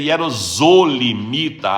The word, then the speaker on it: hierosolimita: Hierosolimita, na verdade deveria ser hierosolimita, a pronúncia, porque o S está entre duas vogais.